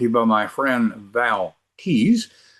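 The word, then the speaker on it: Tews: This episode is brought to you by my friend Val Tees. Tees is spelled T-E-W-S, but it sounds like, as I've been saying, tease.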